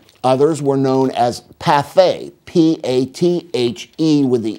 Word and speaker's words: pâté: And when you see the E with an accent aigu, you pronounce the E as a long A, pâté.